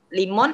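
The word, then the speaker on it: лимон: L I Stresnya di sini karena huruf kapitalnya di sini. Limon adalah lemon. Limon.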